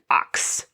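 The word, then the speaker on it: Ochs: for the application process she named herself marie catherine ox which sounds like ox but it's spelled o-c-h-s and that just happened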